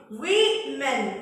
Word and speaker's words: women: Number 4, the woman, W-O-M-A-N, O-man, W-O, plural, M-E-N, women, pronunciation, women, W-O-M-E-N, pronunciation, women, W-O, singular noun, W-O-M-A-N, only one person, one lady, oh man. More than one, plural noun, plural, more than one indication, W-O-M-E-N, pronunciation, correct one in English, women.